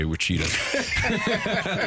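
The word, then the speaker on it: Wichita: Uh it's pronounced the natives say Wita.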